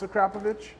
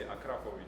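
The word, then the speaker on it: Akrapovič: But do you know how to properly pronounce Akrapovic? No, we would say Akrapovic.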